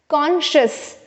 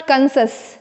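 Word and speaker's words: conscious: Alright, यहाँ पर देखेंगे आप लोग कॉन्शियस, 2 सिलेबल है, इट्स कॉन्शियस, कॉन्शियस नॉट कंसस, ठीक है ना, या कॉन्शियस भी नहीं है ये, इट्स कॉन्शियस।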